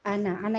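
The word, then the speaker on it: أنا: Qul ya ayyuhal kafirun la a'budu ma ta'budun wala antum a'budun wala ana 'abidum ana itu kan pendek ya. Nah, ana itu pendek.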